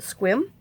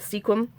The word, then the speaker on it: Sequim: Oh, y'all, I meant to tell you too that my aunt, who lives up in, I think they pronounce it Squim, I call it Sequim, but in Washington, she watches my little YouTube thing.